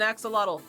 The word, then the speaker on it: axolotl: It's an axolotl.